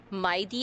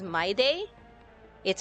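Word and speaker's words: Mydei: I was pronouncing Maidi as Maid. It's Maidi.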